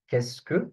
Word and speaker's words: qu'est-ce que: So, for qu'est-ce que, this one, qu'est-ce que, I gave you the pronunciation here, how it is pronounced, because some of the students may find it really, really hard.